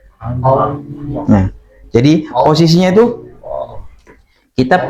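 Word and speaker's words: الله: Allah. Nah, jadi posisinya itu kita pengucapan huruf lam awalnya kan ujung lidah saja ya. La la la gitu ya. Nah, ketika pengucapan apa? Lafzul jalalah itu lidahnya itu melebar.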